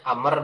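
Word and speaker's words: عمرو: Satu Umar bin Khattab, yang kedua Amr bin Hisham. Disebutnya Umar juga ya, ditulisnya Ain Mim Ro. Tapi dibacanya Amr kalau Amr bin Hisham ini.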